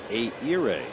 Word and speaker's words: Ehire: It's Ehire. I know. H is silent. It's like 3 vowels in a row.